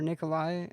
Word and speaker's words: Nikolaj: I mean, you would think Nikolai, but it ends with a J. Is that still pronounced Nikolai? If it ends with a J? It could be. The J could be silent.